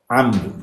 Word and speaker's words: amr: Genelde ya a ile telaffuz edilmiştir ya e ile, işte ama o e'nin gırtlaktan gelen titreşimiyle mümkündür ancak amr diyorlar.